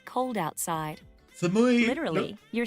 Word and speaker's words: 寒い: 外 Do you remember how to say cold, Samai. referring to the temperature of the air? Samui or samai? 寒い Yes, samui. Ah, there we go.